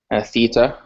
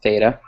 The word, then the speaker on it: theta: class or something, but for the most part, it's pronounced as a TH. So when we think of theta, we're going to think of TH.